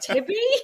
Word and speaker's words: Thebe: And they'd be like, "Tibby?" He's like, "Fuck that. Let's just say Thebe the way it's written."